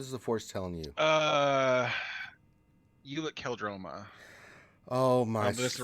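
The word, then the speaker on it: Ulic Qel-Droma: Ulic Keldroma. Oh my! That's the right. No, that's the right pronunciation for it, but no, that was actually pretty decent.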